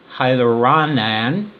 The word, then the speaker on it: hyaluronic: allows them to form hydrated gels so hyaluronic hyaluronic I said it right is the only gag